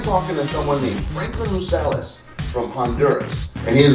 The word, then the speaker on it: Rosales: Rosales?